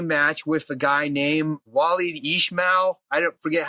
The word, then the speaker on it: Walid Ismail: had a jiu-jitsu match with a guy named Walid Ismail. I don't forget how you pronounce his name. Yeah, Walid Ismail, yeah.